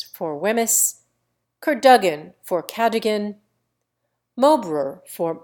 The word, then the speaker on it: Wemyss: John, Poole for Powell, Weems for Wemyss, Cadogan for Cadogan, Mowbray for Marlborough, Key for